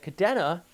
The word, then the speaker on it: Kadena: Actually, at Kadena, proper way to pronounce it, by the way, you had a 57 knot wind gust there as well.